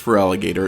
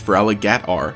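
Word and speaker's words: Feraligatr: very end for alligator shouldn't even be pronounced for alligator it should be pronounced for allah gattar that's because during generation 2 when it was first introduced there was a character limit for pokemon names so they just dropped the o from gator and never fixed it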